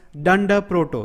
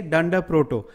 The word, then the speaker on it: dunder proto: the beginning and end that actually is called as dunder proto we will write it like this d u and de are done de proto because it's easy to pronounce every time saying underscore underscore is a headache right so you generally say done de proto what actually dunder proto